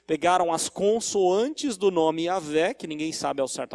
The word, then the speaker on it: Yahvé: Pegaram as consoantes do nome Yahvé, que ninguém sabe ao certo a pronúncia. Alguns falam Jeová, Yahvé. Parece ser mais provável ser Yahvé, a pronúncia certa.